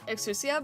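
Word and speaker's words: Exusiai: they said like um they said that it's supposed to be uh exusia but people are say exia because of the Gundam reference and also because that in Japan um they don't pronounce the U kind of like in like like uh Sasuke and then that's where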